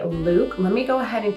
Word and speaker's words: Lewk: So it's spelled like look, but you exaggerate it and you say Lewk.